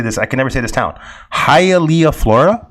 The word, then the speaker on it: Hialeah: never say this town hialeah florida that say it right hey elia it looks like hallelujah florida but hialeah floor uh question gatormall uh